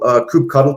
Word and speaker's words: kubectl: Kubectl, though I've heard people pronounce it kubectl or kubectl, this is the official CLI of Kubernetes.